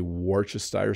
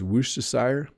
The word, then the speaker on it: Worcestershire: I say Worcestershire sauce, but I think it's Worcestershire in the UK. We just say it wrong in our house. Most North American English speakers just totally mess up the word Worcestershire sauce. Like, even that's wrong, but that's what we call it, Worcestershire sauce.